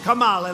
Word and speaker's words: Kamala: If you really take, you had Elizabeth Warren, you had Cory Booker, and you had Kamala. You know, if you pronounce her name wrong, she goes crazy. Kamala, like a comma.